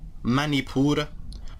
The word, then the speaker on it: Manipura: your emotions now the naval chakra which is pronounced in Sanskrit as Manipur manipura also another name for this chakra in Sanskrit